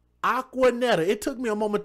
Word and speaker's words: Aquaneta: Aquaneta. It took me a moment to look at it. It's spelled a Q U Aqua and then Netta.